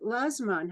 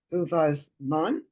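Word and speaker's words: ובזמן: Baruch atah Adonai Eloheinu melech ha'olam she'asa nisim la'avotenu by yamim ha'hem uvazman hazeh. I always pronounced it lazman hazeh.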